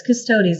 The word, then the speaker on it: Custodes: I say Custodes. I Yeah. think it's custodes. Yeah, it's custodes. It's not custodes. It's not like chodes. It's Yeah, custodes.